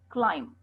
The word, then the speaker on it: climb: Silent B usually comes after an M. Okay, climb, not climb. Climb, comb, crumb, thumb, and tomb. Please say it again.